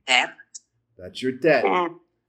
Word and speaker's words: tet: Tet. That's your tet. That is the one of 2 sounds in the Hebrew that can produce the T sound.